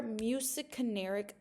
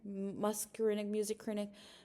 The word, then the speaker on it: muscarinic: Music can be excited or inhibitory. Muscarinic, muscarinic. It reminds me of music, just how you say it.